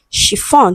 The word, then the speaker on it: chiffon: Option B, we have chiffon. So we have sh, which is a voiceless sound.